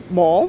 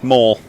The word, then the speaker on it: mole: like a dope because I mispronounced mole earlier and you can probably figure out what I said mole mole yeah but I didn't put the accent over the E I know I know